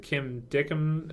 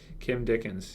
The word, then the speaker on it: Kim Dickens: and she is fantastic is it Kim dickham or Dickens yeah yeah Kim Dickens yeah uh almost mispronounced